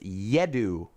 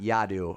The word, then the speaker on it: Yadu: yadu says hi john my name is yadu pronounced yedu okay and not yadu uh you say it